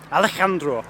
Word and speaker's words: Alejandro: Alejandro.